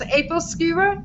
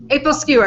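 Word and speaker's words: æbleskiver: ever heard of um how it's pronounced in Danish is APLE skewer APLE skewer it's this pan with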